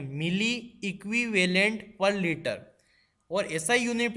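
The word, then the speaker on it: mEq/L: दोस्तों इन यूनिट्स को प्रोनाउंस करना भी अपने आप में एक बात है, इसको ध्यान से सुनिए मैंने कैसे प्रोनाउंस किया, मिली इक्विवेलेंट पर लीटर।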